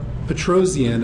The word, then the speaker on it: Petrosian: the fact that uh Petrosian is pronounced just that way with four syllables um it is a